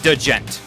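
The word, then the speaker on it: djent: spelled a DJ ent it's like doe gent DJ ENT look it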